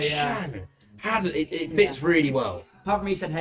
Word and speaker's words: Hadden: Is Shan Hadden, everybody.